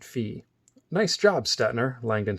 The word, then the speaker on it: Phi: back raised his hand that's the number fee he pronounced it fee nice job stetner Langdon